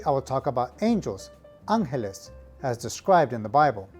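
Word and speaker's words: ángeles: pronunciation tips number one the word for angels is angeles now note that there's an accent over the first letter so the correct pronunciation here is angeles tip number two the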